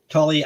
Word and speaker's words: Tully: a slightly different spelling but it's the same pronunciation Tully as in t-u-l-l-y yeah that's how hard but